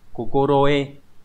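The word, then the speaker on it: 心得: Vậy thì trong trường hợp này cái chữ này nó sẽ đọc như thế nào? À, nó sẽ đọc là kokoroe.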